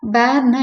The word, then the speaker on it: bear: பேர்னா என்னன்னா animal. The bear lives in a forest. இதை நம்ம வந்து பியர் அப்படின்னு தான் ப்ரொனவுன்ஸ் பண்ணுவோம். அந்த ஸ்பெல்லிங்கை வச்சுட்டு சொல்லுவோம். ஆக்சுவலாக ப்ராப்பர் ப்ரொனன்சியேஷன் வந்து பேர் தான். The bear lives in a forest.